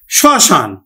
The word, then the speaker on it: শ্মশান: যেমন দেখো আমি লিখলাম শ্মশান। শশান লিখছি শশান তো আমরা যদি উচ্চারণ করি তাহলে আমরা কিন্তু উচ্চারণটা করি স এই চন্দ্রবিন্দু সশান শসান তার মানে কি মফালার উচ্চারণটা কিন্তু হলো না তবে নাসিক ধ্বনিযে চন্দ্রবিন্দুর উপর একটি কিন্তু প্রভাব পড়ল বা চাপ পড়ল তারপর আরেকটি শব্দ লিখলাম